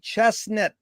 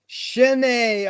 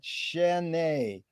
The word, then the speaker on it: Chesnet: and a pleasure to be here with chestnut is that the correct way to pronounce it no it's not it's pronounced shinnie but everybody gets it wrong shenei oh thank you for correcting it shannae thank you uh what's the best thing for